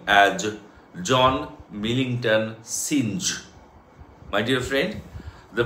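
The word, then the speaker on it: Synge: to pronounce the dramatist name as John Millington singe my dear friend the pronunciation is not singed the pronunciation is J M John Millington Singh number two the first thing first what does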